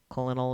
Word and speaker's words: colonel: Colonel is pronounced colonel for your information.